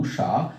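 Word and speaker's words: ঊষা: এই দীর্ঘ উ আমরা লিখেছি, যেমন আমরা উচ্চারণ করি উষা, উষা বানানে আমরা দীর্ঘ উ ব্যবহার করি, কিন্তু উচ্চারণের সময় আমরা এই দীর্ঘ উচ্চারণটা আমরা হ্রস্ব উ করে ফেলি। যেমন উষা, আমরা যদি দীর্ঘ উচ্চারণটা করতাম তাহলে আমাদের করতে হতো উষা, কিন্তু আমরা উষা কখনো না বলে বলি উষা। উষা অর্থাৎ ছোট করে, দীর্ঘ উকে দীর্ঘ করে টানি না, ছোট্ট করে টানি। তার কারণে দীর্ঘ উর উচ্চারণটা হয় হ্রস্ব উর মতো।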